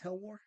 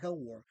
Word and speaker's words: HELWÄR: It's HELWÄR. Yeah. Okay, cool. Because I got worried because there was 2 dots over the A, so I'm like, there's a special pronunciation for that word. It's not HELWÄR, but you confirmed it is.